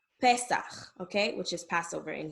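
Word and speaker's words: פסח: When you see the letter E, it's going to be pronounced E, like Pesach, okay, which is Passover in Hebrew.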